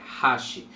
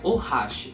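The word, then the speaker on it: はし: E sim, a pronúncia correta é hashi, não é hashi. Na verdade, o mais correto mesmo é ohashi, mas só falar hashi que já está tranquilo.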